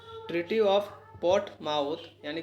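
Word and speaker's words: Portsmouth: तो दोस्तों treaty of port माउथ। ठीक है, एस साइलेंट है दोस्तों। ट्रीटी ऑफ पोर्ट माउथ यानी कि पोर्ट माउथ की संधि में रूस जापान युद्ध का अंत हुआ था।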